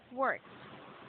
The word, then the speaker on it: worked: So ed, it is pronounced as t sound.